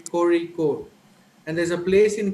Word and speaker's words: Kozhikode: Most of them who are not aware of this sound will pronounce it as Kozhikode. So, but actually the sound is ra. Kozhikode. You're supposed to say Kozhikode.